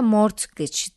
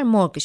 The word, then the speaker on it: mortgage: ya da mortgage deniyor İngilizceden değil fransızcadan geldiği için de mortgage diye değil arkadaşlar morg diye telaffuz ediliyor Her neyse bu işin